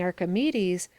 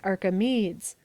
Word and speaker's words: Archimedes: neither is it funny if a person instead of saying archimedes says arkhamids why shouldn't it have been archimedes the english scale of